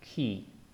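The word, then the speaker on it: כי: here is an example key key and you already know the e sound uh we have the diod and it has a dot in front and therefore the sound is key remember that Y is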